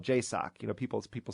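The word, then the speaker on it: JSOC: You know, you were talking about uh the Joint Special Operations Command, which is called J- Sock. You know, people people say it like, you know, Jacock.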